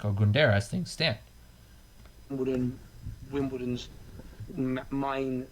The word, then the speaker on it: Ogundere: You can't pronounce his name right either. So. Isaac Ogundere. I used to say Ogundere, to be fair.